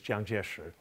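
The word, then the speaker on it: Jiang Jieshi: kai-shek his chinese name his mandarin name is jiang jieshr now i'll use the chiang kai-shek pronunciation because it's the most familiar but that's not a mandarin pronunciation it's a local dialect anyway these three generals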